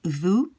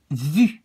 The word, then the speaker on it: vu: This is a sound not really easy to pronounce for English-speaking people. It sounds a bit more like vu, j'ai vu, when I hear English people pronounce it. But so remember to make a very small round, very small opening with your lips, and really make a very, very with a tense mouth, say vu.